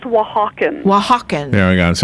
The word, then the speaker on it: Oaxacan: mean I think that is absolutely beautiful it's pronounced Oaxacan well Hawkins yeah I guess I had a